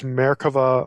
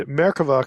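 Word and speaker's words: merkavah: type is known as merkava mysticism and merkova can either be spelled with a B America with a V it's pronounced V if you're saying it in Hebrew American mysticism the word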